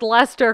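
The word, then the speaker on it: Leicester: __ ] phone I know I've I can't pronounce Lester correctly but I know 100% it is not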